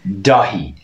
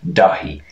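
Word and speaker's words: Dáithí: pronounce their th's because there is no th noise in irish th and irish you just pronounced the h yeah so this would be dahi and dahi is the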